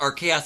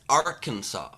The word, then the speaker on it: Arkansas: also bert real quick it's not pronounced our chaos it's arkansas five dollars from